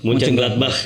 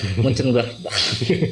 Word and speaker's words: Mönchengladbach: Ada Real Madrid, Shakhtar Donetsk, Inter, dan bacanya gimana? Baca gimana? Mas? Mönchengladbach. Mönchengladbach.